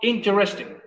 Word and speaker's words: interesting: Interesting tiene también 4 sílabas. Interesting. Para algunos incluso puede tener 3. ¿Por qué para algunos? Según la pronunciación y la velocidad a la que tú digas, puede decir interesting. Interesting. Sería como para, por ejemplo, el inglés británico es como más pausado, tendría como 4, o sea, los 4. Y en el inglés de Estados Unidos como que hablan muy enredado, muy No, junto, no, o porque al revés.